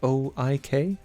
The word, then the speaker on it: oik: Is that how I pronounce it? It's oik. It's O-I-K.